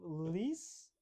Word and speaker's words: Lys: We have Lys, or as some pronounce it, Lice. Yeah. Hext. Hexia says lice, so we should call it lice.